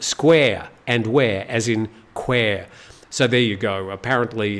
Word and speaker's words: Kwai: But a lot of locals say, no, it's pronounced Quair.